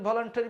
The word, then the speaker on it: voluntary: তাহলে উচ্চারণে এখানে থাকবে ও, এখানে থাকবে ইউ, এখানে থাকবে এ, এবং উচ্চারণটা হবে চেরি।